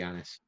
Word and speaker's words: Annis: Don't forget Anna's hags. Did you say what? Don't forget Anna's hags. Or is that how you say it? Annis hags, yeah.